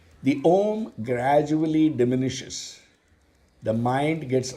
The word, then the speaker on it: Om: the less qualified seekers why om the syllables are ooh and ma that form ohm are the indicators of the self that is present in